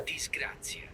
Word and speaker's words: disgrazia: From the Oxford Dictionary, disgracia, bad luck and misfortune. Here we go. Here's how you say it. Yeah. Disgrazia.